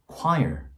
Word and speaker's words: choir: 완전히 다른 소리를 가지고 있거든요. 자, 하나는 choir, 이고요. 다른 하나는 chore입니다. choir and chore. It's like so different, right?